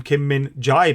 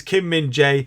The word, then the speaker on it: Kim Min-jae: comments and you guys telling me how to pronounce his name properly um as I was calling him Kim Min Jai before but it is Kim Min Jae and the article says Manchester United Target Kim